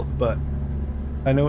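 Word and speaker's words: Butte: How how close it how close are you to the butt? Is that even how you pronounce it? Is this really I think it's boot. It's boot Montana.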